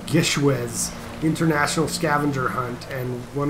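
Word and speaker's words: GISHWHES: We just joined I believe it's pronounced Gishwez International Scavenger Hunt, and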